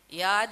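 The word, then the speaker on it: Yaad: Yard, Y-A-A-D, yes, so we have to pronounce it that way.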